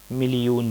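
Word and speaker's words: میلیون: ہزار۔ 1000 is ایک ہزار۔ اسی طرح جو ہے آگے کے ہندسے جب ہم پڑھیں گے تو ملین کے لیے لوگ ملیون بولتے ہیں، ملیون۔ اپنے تلفظ میں ملین کا لفظ جو ہے ملین، یا ملین کتنا ہے؟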